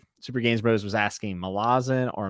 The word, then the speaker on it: Malazan: Also, Super Games Bros was asking Malazan or Malazan. So I actually like the pronunciation of Malazan more, but I've heard Erickson call it Malazan, like Malazan, magician.